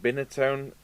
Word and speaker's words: Binatone: some people pronounce it binotone binotone i don't know anyway we're going to call it banatone so it's a big